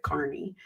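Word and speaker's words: Kearney: his name is Aiden Carney spelled Kierney pronounces it Carney and um he's a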